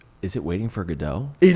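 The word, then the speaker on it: Godot: Is it waiting for GDAU?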